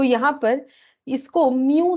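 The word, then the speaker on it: μ: तो यहाँ पर इसको म्यू से डिनोट किया जाता है, इसको क्या रीड किया जाता है, म्यू, ठीक है।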